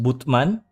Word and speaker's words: Batman: Yeah, there's a town called Batman, but it's actually pronounced Butman, but it's spelled like Batman.